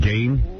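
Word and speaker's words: Gein: G gain. Wow. But it's spelled G. I know. It's spelled ridiculously for the way it's pronounced.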